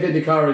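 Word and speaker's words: Vindicare: No, because I say Vindicari because I know that's what Richie's looks like. Well, one of the Black Library audiobooks pronounces it that way.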